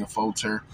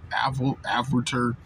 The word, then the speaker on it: Affolter: They can definitely do to learn a lot from Sydney Affolter. Yes, it's Sydney Affolter, because some people say, I've heard Affolter, Affolter, it's Sydney Affolter.